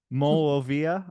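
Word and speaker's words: Monrovia: So the first word is MON, as in my, in French, and then Rovia, Rovia.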